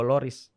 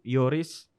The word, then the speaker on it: Lloris: istirahat waktu itu yugoloris Yoris bacanya itu sebenarnya bukan Hugo Lloris Hugo Yoris nah saat istirahat Ugo